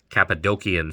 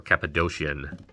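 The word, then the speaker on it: Cappadocian: Uh these three people came to be known as the Capidokian fathers or Capidocian depending on how you pronounce it.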